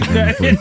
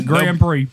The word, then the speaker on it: Grand Prix: That's a Grand Prix. So the X is silent.